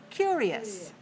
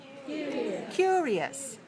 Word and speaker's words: curious: form listen to it curious curious okay how many syllables do you hear curious as three syllables where's the stress one so pay attention look